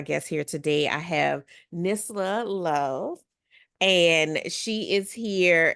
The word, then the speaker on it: Nisla: Nisla.